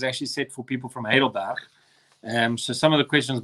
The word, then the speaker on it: Heidelberg: But yes, so what do you call, as I said, Heidelberg? That's how you pronounce it. I always said Heidelberg, but they will punch you over there if you say Heidelberg.